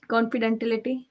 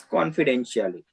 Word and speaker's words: confidentiality: we can call confidently no sorry confidentility it's confidentiality right pronunciation is also equally important whenever you are